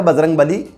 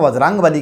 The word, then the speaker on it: वज्रांगबली: तो ये वज्रांगबली से बजरंगबली फेमस हो गया, जबकि उनका सही अगर उच्चारण करेंगे तो वज्रांगबली किया जाएगा।